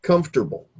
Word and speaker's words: comfortable: we don't do that so we essentially if I do it phonetically again we say comfortable and we don't say vegetable we say veg too well so these syllables the O R or the O and the E and the a they're cut right out we don't you know